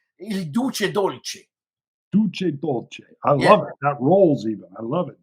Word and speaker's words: Il Duce Dolce: in Italian it's the Duke who's sweet. So Il Duce Dolce. So because if you say Dolce Duce, that means like you're actually eating the Duke, and it's sweet.